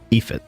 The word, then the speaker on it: Aoife: Ephit, so that's how you say it.